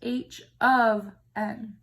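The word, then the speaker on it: h(n): This is pronounced h of n.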